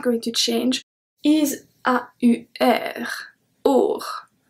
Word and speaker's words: aur: Or. Or. AU is pronounced like a soft O.